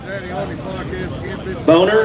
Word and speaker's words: Boehmer: Boner, is that, how do you say that?